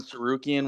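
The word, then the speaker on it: Tsarukyan: think I'm worried about freaking Armin sarukian with a silent T at the beginning of his name he continued it was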